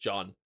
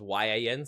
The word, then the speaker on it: Jan: It's just John. It's just John. I I I had it written out phonetically here as Yian, so I was saying Yian, but apparently it's just John.